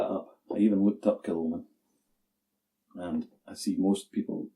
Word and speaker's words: Kilchoman: Kilchoman. I even looked that up. I even looked up Kilchoman.